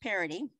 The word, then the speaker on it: Parody: to pronounce his name it looks a little bit different but it's pronounced parity Chief Operating Officer of